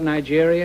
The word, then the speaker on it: Nigeria: Could you tell us something about Nigeria? Is that the way you pronounce it? Yeah, Nigeria. Nigeria, yeah?